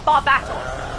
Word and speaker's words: Barbatos: Oh, Superman said Baptist and then David with his awesome correct pronunciation that we very much appreciate said Barbatos the correct way. Rose, it's not Barb.